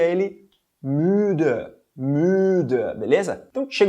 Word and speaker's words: müde: A gente pronuncia ele müde, beleza?